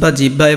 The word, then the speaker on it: জিহ্বা: হয় বয় আকার আছে, তাহলে আমরা হয় ব থাকলে বলেছি ও ভ দিব, তাহলে এখানে দেখো এই যে হয় বর জায়গায় জাস্ট ও ভ, আর আকার তো ছিলই জিহ্বা জিহ্বা, এটা হলো সঠিক উচ্চারণ।